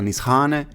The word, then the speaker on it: Nişane: is often pronounced as Nicheane or Nichean, the brand should be pronounced NIS - HANE because Turkish “SH” looks like this: Ş - ex.